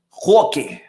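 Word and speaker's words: Roque: to talk about bittor Hoke I I Googled how to save his name properly and apparently his last name the r is silent so it's okay all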